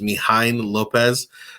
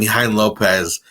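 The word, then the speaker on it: Mijaín López: First one is, I believe it's pronounced Mijain Lopez.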